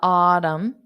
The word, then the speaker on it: autumn: think the Autumn the autm so for Autumn there is no n Sound I think it'd be